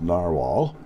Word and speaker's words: Narwhal: My favorite Pen BBS 456, and now the Narwhal, pronounced Narwhal, Original Plus.